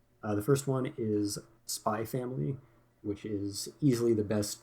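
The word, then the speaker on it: Spy × Family: always go over this if there's an X in between two words it's always silent uh if it's at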